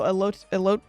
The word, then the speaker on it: elote: No, elote. Wait. No, I don't want a pronunciation.